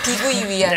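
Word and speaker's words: 碧桂园: 비구이 위한.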